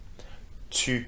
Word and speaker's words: tu: Tu is the U sound. So make sure you make a round with your lips, okay? And your tongue touches the back of your teeth.